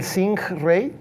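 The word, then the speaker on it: Singh-Ray: I had the first one, I'll mention which is the Rolls Royce, the Singh Ray. Singh spelled like Sing but with an H and Ray.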